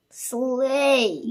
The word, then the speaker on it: sleigh: Our next word is sleigh. Good job. Again, we have EIGH, which says A.